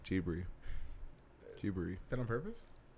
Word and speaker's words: Ghibli: So it's spelled Studio Ghibli, but it's pronounced Ghibli. Ghibli.